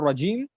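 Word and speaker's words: رجيم: our regime again our regime the raw of this has to be pronounced with a little fullness of the mouth like raw raw raw not rare not Regine raw gene raw right so what is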